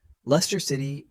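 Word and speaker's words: Leicester: Lester City. Repeat twice. Lester City. Lester City. The middle letters CS are almost silent.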